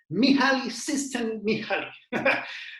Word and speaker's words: Mihaly Csikszentmihalyi: Mihaly Csikszentmihalyi. Como tú veas el nombre en el libro vas a decir, esto es impronunciable, pero no.